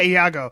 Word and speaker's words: Iago: Is Iago? Is that how you say it? The parasite? Iago? Yeah, Iago.